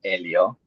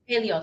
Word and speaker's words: Helio: First and foremost, uh, it's pronounced Elio. Elio, my bad.